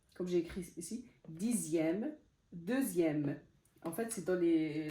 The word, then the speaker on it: deuxième: C'est par exemple comme dixième, comme j'ai écrit ici, dixième, deuxième. En fait, c'est dans les, la plupart, c'est dans les nombres, en fait, quand le X se prononce Z, Z.